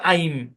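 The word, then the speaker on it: I'm: আই এম, এটা আমরা পারি, কিন্তু এখন থেকে আমাদেরকে এটাও পারতে হবে, আই ঊর্ধ্ব কমা এম অ্যাপোস্ট্রফি দিয়ে উচ্চারণটা হবে আইম।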